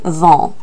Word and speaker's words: vends: So to say I sell or I am selling would be je vends. The tu form is exactly the same word. Tu vends. Notice that S is silent.